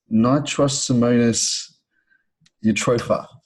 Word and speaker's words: Nitrosomonas eutropha: Nitrosomonas eutropha.